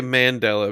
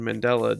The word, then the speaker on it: Mandela: I would say Mandela, because the Mandela effect is actually named for what I said earlier.